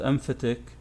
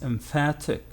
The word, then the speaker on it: emphatic: And this one is not emphatic, it's emphatic.